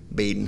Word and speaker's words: Badin: but he said that a deliberate decision was made to call baden high school with a long a baden high school the first